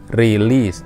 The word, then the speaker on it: release: หรือ วิลลี-วิลลี ปลด ปล่อย ตัว นี้ release เนี้ย อย่า ออก เสียง เป็น RE release ครับ รู้ นะ ต้อง ออก เป็น ปาก กลม ๆ วิลลี่ นะ มาก ครับ